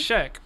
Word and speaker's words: Sheikh: And it's pronounced Sheikh.